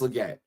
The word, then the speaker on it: Legette: It's pronounced Legette, or it's pronounced Leggett. I'm sorry.